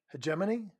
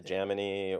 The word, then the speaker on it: hegemony: Hegemony. No, that was, you said it right that time. You didn't say Yeah, Pagamony or Hego, Hegemony, hegemony. Yeah, that's. uh, which is kind of like matrimony, except when it doesn't go well, Dana.